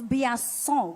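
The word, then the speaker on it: Biasion: It's not Blanson. I can tell you that. It's Biasson, oui? Yes. Mickey Biasson and Tiziano Siviero. It's Italian.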